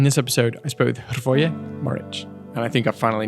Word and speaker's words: Hrvoje Morić: In this episode, I spoke with Hrvoje Morić, and I think I finally nailed the pronunciation of his name here.